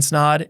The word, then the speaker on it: Snaadt: My name is Snaadt. It rhymes with odd, and you're listening to the Rhymes with Odd podcast.